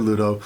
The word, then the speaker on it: Ludo: d group of Ludo which I always pronounce Pluto when I heard the movie but it's actually Ludo of the rock Summoner